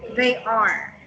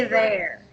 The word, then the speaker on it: there: Oh, also, for this one, avoid reading that word as they are. It should be there. Just one syllable. Instead of saying they are, just say there.